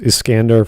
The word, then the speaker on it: Iskandar: from fate zero although in the japanese vernacular i think it's pronounced iskandar for some stupid reason